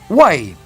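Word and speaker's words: οὐαί: último discurso bien cuando hablamos acerca del término ai se pronuncia con casi el mismo sonido del vocablo griego guay sería guay en castellano nosotros hemos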